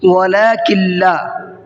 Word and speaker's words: ولكن لا: ہے۔ وَلَكِن لَا يَشْعُرُونَ، وَلَكِن لَا، کلا کے اندر یہاں پر نون نہیں پڑھا جائے گا، کاف کو ڈائریکٹ لام میں ملا کر کے پڑھیں گے۔ وَإِذَا قِيلَ لَهُمْ آمِنُوا